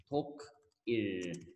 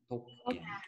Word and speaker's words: 독일: 독일. Okay. Say with me, everyone. 독일. Germany. Yeah. 독일.